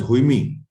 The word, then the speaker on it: Haime: Okay, it's you pronounce it as Haime.